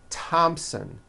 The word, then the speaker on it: Thompson: like to point out although these next words and names are spelled with a th they are pronounced as if they were spelled with a normal t like that and these